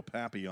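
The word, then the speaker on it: Papillion: It's spelled like Pilion, but I'm going to go Papy on Nebraska.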